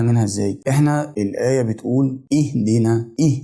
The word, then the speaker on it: اهدنا: ازاي احنا الايه بتقول اهدينا ايه اهدينا حرف الدال نكسور ما ينفعش اقول اهدانا او اهدنا بعدين الكلمه اللي بعد كده